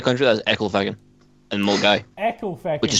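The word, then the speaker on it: Milngavie: and Mulgai, Echo Feckin' which is spelled Mil.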